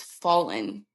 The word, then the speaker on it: Fallyn: like, by the way, it's fallen. Like, think of a fallen angel.